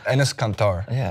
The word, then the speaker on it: Enes Kanter: Well, Hassan taught me because it's Turkish. But say it again. Enes Kanter is how you pronounce it.